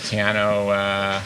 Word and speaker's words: Tejano: You go from him and you associate Texas with country and maybe a bit of Tejano. Did I pronounce that right? Excuse me. Yeah, Tejano.